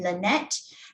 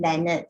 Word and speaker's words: Leonard: It was said Lynette, and then it was actually Leonard. So please take note, our member is Leonard, not Lynette.